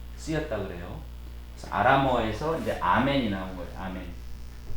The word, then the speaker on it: 아멘: 그래서 아람어에서 이제 아멘이 나온 거예요. 아멘. 우리 영어로는 또 이거를 에이멘이라고도 하기도 하죠. 근데 본래 발음은 아멘이죠. 믿습니다 이런 뜻이에요.